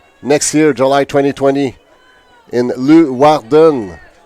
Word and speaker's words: Leeuwarden: 2020 aux Pays-Bas, dans une ville, pardonnez ma prononciation, Leeuwarden.